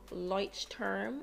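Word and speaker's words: Leuchtturm: just one of these lights term is how i think it's pronounced 1917 journals is like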